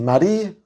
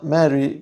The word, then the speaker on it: Marie: a escuchar que indistintamente yo puedo decir Marí, como decimos acá en Argentina, Mary, como por ejemplo podría llegar a ser una pronunciación más anglosajona y Marie que es esta pronunciación sueca que aprendí, que tampoco sé si está bien o está mal, pero bueno, son mis